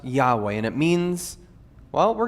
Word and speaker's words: Yahweh: today we have the next word which is yahweh that's how you pronounce those four consonants that are put together no vowels in there for a very good reason but it's pronounced yahweh and it means well we're going to get